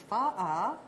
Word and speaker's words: pho: In Vietnamese, it's pho. Pho. Pho. But it's spelled P-H-O. P-H-O. Okay. And in the United States, we either say pho or pho, but pho is probably a little more accurate.